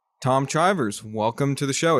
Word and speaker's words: Chivers: I will say just to avoid it's Chivers rhymes with rivers rather than Chivers rhymes with Chivers.